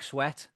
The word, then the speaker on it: Swett: Dick Sweat. Whoa, okay. I'm gonna say that one's real. Dick Sweat. Yeah, I am. Sweat is spelled SWETT.